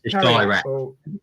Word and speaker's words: Kairat: It's not Cravat. It's Kairat. Kairat, yeah.